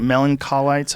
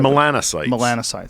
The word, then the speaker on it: melanocytes: Melancolites? How do you say it? Melanocytes.